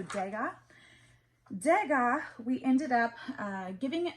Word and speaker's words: Degas: I think the S is silent, so Degas.